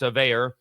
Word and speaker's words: Veilleux: You would think it looks like it's a Cajun name. It looks like it's French Canadian, but it's not. It's more pronounced American, although it's spelled like a Cajun name, but it's pronounced Veilleux.